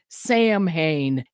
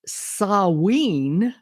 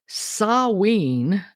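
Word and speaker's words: Samhain: English it would look like you say it Sam ha it's pronounced saween ah saween uh keep that wean part in your mind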